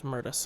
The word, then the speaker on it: Murtis: Oh, it's Murtis. I've been saying it wrong the whole time.